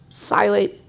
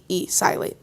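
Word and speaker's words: psilate: life, and then ask you if you can spell it. Silate? Yes, okay. Silate, P-S-I-L-A-T-E, silate.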